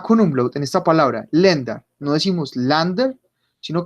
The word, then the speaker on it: Länder: Entonces, por ejemplo, A con umlaut en esta palabra, lenda, no decimos lander, sino que decimos lenda, porque estos dos punticos me acaban de transformar este sonido.